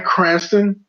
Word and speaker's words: Cranston: to the theater and see this um Brian Cranston cron did I say his name right yep